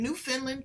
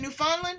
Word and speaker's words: Newfoundland: She is from Newfoundland, Canada.